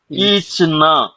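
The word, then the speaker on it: खींचना: செய்யுங்கன்னு அர்த்தமாயிடும் இது வந்து கீச்னா கீச் என்பது இழுப்பது இப்ப டேபிள வந்து தரையில போட்டு இழுக்கறோம் அப்படின்னா கீச்சு கீச்சுன்னு சவுண்ட் வரும் சரிங்களா கேட்டிருப்பீங்கல்ல அவ்வளவுதான் அந்த அந்த இதுக்கு உண்டான உச்சரிப்பு மட்டும் கொடுத்தா போதும் கீச்னா கீச்சோ கீச்சியே சரி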